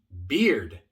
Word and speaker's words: beard: Cuidado, si lo que quieres decir es barba, pero no pronuncias la D, lo que realmente estás diciendo es cerveza.